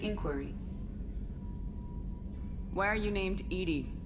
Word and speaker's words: EDI: have a specific inquiry why are you named Edy Edy is the phonetic pronunciation of e di that is an acronym